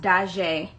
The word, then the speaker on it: Daujee: you pronounce your name my name is pronounced da jae in the talking stage